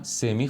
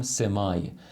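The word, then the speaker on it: semi: تماسی نداشته باشه باهاش کلمه هم سمی خونده میشه هم سمای تلفظ امریکن و کلا معمول ترش سمی هست و بریتش سمای معنیش تو مثالها بهتر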